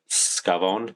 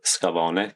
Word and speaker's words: Scavone: I'm joined by John and Nadja Scavone or Scavone, depending on um, how you want to pronounce it, uh, English or Italian.